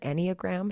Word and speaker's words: Enneagram: we're gonna do that is it called an Enneagram is that how you say it yep I